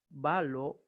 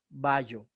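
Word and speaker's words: βάλλω: Por ejemplo, tenemos el verbo balo, leeremos balo o por lo menos balo, pero jamás ballo.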